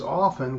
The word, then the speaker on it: often: The correct way is often with the T being silent.